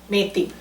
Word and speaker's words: methi: Now this, That, how do you pronounce this again? Methi. Metti.